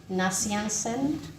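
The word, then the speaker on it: Gregory Nazianzen: were um St athanasius of Alexandria St Gregory nansen yes that's correct pronounciation St John christom um and St Augustine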